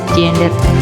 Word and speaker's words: gender: Anak-anak, toleransi terhadap keragaman gender, manusia diciptakan Tuhan dengan 2 jenis gender, laki-laki dan perempuan. Bacanya jangan gender ya, gender. Tulisannya gender, bacanya jangan gender, gender.